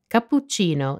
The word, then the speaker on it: cappuccino: pp and the cc when you see a double consonant the key is to pause for a split second while holding the consonant for a bit longer than usual have a listen to